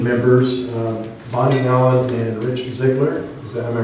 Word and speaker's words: Ziegler: Appointing planning commission members, Bonnie Allen and Rich Ziegler. Am I pronouncing that right? Ziegler. Ziegler.